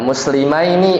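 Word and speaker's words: مسلمين: pakai ya sama Nun ya muslimaini bacanya Aini ya jangan lupa kalau mussanna itu bacanya Aini Nah maka di sini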